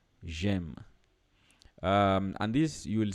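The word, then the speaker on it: J'aime: pronunciation I guess so instead of saying they basically want you to say J Jem um and this you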